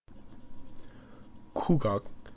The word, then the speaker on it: Gugak: music which is the traditional music of korea kugak pronounced ku gak directly translates to national music and